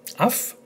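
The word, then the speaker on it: αυ: letter as af, as in Africa, af, not av, when, if followed by letters not mentioned earlier. Pretty easy. So you only need to worry when you pronounce them av rather than af.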